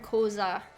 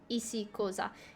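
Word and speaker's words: Xhosa: study koza and like even the word koza that's the english way of saying it the real way is saying it's difficult to say it's spelled like this and in koza you actually say ici in front of it isi koza you have like little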